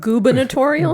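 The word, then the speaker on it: gubernatorial: You would think it would just be governorial, but no.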